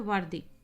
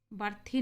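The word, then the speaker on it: worthy: अगला है वर्दी। बर्थी नहीं पढ़ेंगे बच्चों, इसका उच्चारण वर्दी होता है, ठीक है।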